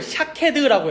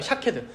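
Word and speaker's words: שקד: 히브리어로 살구 나무를 샤케드라고 해요. 샤케드. 근데 히브리어를 하는 사람들, 아는 사람들이라면이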